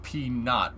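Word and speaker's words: P₀: Usually that's pronounced P not with the subscript of 0.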